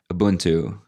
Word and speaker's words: Ubuntu: Ubuntu. Am I pronouncing that correctly, by the way?